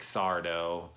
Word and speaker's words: Sardo: reoccurring characters here like Sardo know mister accent on the dough people like that really